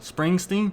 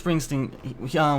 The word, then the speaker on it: Springsteen: Springsteen? Yeah, you're saying it right. Bruce Springsteen.